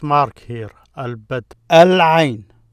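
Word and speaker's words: العين: Al-Ain, I. The word for I is Ain. The I, Al-Ain, Al-Ain. Notice you pronounce the L there, Al-Ain.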